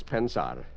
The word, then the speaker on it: pensar: The verb to think is pensar. Pensar p e n s a r.